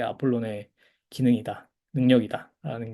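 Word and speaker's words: Ἀπόλλων: 그 다음에 이제 아폴론. 이제 로는 조금 길게 발음하시고 앞에 오미크론은 좀 짧게 아폴론 이렇게 발음하셔야 됩니다.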